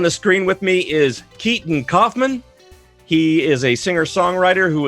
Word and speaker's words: Keeton Coffman: It's KEETON COFFMAN. There we go. That's right, that's a better pronunciation.